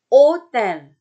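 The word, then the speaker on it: hôtel: Hotel, bukan hotel, tapi hotel. Hotel. Ingat tadi tuh, ash, si H ini nggak pernah dibaca.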